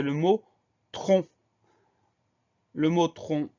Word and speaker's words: tronc: Le mot tronc, au début, on entend tr qui s'écrit TR sans surprise. Ensuite, on a le son on qu'on va écrire ON sans surprise, pardon. Et à la fin, on a une lettre muette, c'est le C qu'on n'entend pas dans le mot.